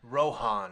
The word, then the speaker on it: Rohan: the this is the track called Plains of Rohan am I pronouncing that right yeah Rohan Rohan sorry it's an accent an accent Rohan